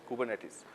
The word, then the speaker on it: Kubernetes: to pronounce it it's called it's spelled kubernetes pronounced kubernetes Python Java right but once you talk to